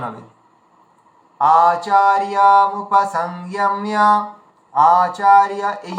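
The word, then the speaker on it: আচার্যমুপসঙ্গম্য: মুপসংগম্য, মুপসংযম্য, মুপসংযম্য, মিয়া মিয়া ম জ ফলা আছে, তাহলে মিয়া এভাবে উচ্চারণ হবে। আচার্য মুপসংযম্য, আচার্য, এই যে আচার্য আর মুপসংগম্য এই দুটোকে আলাদা আলাদা করে ভেঙে উচ্চারণ করবেন, তাহলে সুবিধা হবে।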